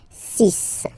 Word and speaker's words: six: And be careful here, because even if it's ending with this X, well, you'll have to pronounce it like S, okay? So you get the six pronunciation. Six, six.